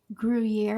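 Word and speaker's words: Gruyère: 1/4 cup of sour cream, 1/4 cup of grated griier cheese. Ger, how do you say it, Tara? Gruier.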